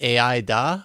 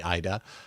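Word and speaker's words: Ai-Da: The artist that you see here is named, is it Aida or Ida? I mean, it's spelled Aida, so probably Ida.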